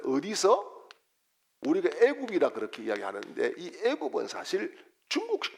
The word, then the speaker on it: 애굽: 그런 의미가 있습니다 어디서 우리가 애국이라 그렇게 이야기하는데이 애굽은 사실 중국식 발음입니다 중국식 발음이고 우리나라 발음 그대로 하려고 하면은